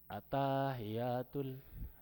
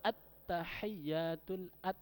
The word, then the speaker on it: at-tahiyyatu: At-tahiyyatul nggak boleh atahiyatul mubarakatuh sholawatu to ibatu lillah assalamu alayka.